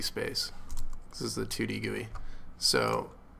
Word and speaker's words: GUI: it's called title gooey and yes it is pronounced goey for those of you that are not aware